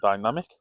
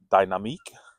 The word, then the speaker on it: Dynamique: I'm going to say it's the TomTom Dynamic. Or Dynamique, if you want to pronounce it correctly.